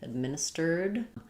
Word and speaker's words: administered: There we just add the d sound. So rather than stir, it's going to sound like stirred. Administered.